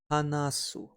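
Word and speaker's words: 話す: To talk or to speak is pronounced as HANASU.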